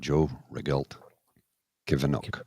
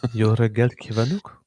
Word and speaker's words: Jó reggelt kívánok: Joe Regelt Kivanok. I know that's not how it's pronounced. Jó reggelt kívánok.